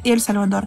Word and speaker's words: Эль Сальвадор: что страна которую мы привыкли называется Сальвадор на самом деле называется Эль Сальвадор и связано Это с тем что официальным языком Эль Сальвадора является испанский А в испанском языке перед существительными используются артикли Поэтому правильно говорить Эль Сальвадор и некоторые сальвадорцы обижаются